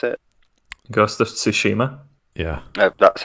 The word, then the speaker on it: Tsushima: uh was it to schubert that did i pronounce it because the tsushima yeah that's how you pronounce it yeah i